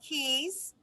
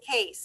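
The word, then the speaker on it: Kees: is spelled k k-e-e-s it's not pronounced keys it is case am i correct so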